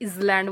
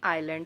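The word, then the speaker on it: island: है coastal planes आइलैंड कुछ लोग इसे इलैट बोलते हैं नहीं आइलैंड है एस साइलेंट है ये कुछ लोग बोलते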